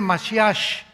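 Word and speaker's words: משיח: Se escribe Mashiach, Jesús el Mesías en el hebreo, pero se pronuncia la CH, Yeshua Mashiach.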